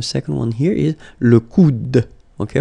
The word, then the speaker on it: coude: one here is le coude. Okay, remember, you don't insist on this final E, it only gives you the sound of D at the end.